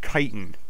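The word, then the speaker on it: chitin: to that yet scorpion stuff this is actually pronounced kiten so yeah this kitan scorpion kitan will go into any armor you crafted into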